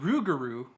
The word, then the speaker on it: rougarou: And in fact, the rougarou, pronounced with more of a hard R at the beginning, is a common myth in Métis folklore.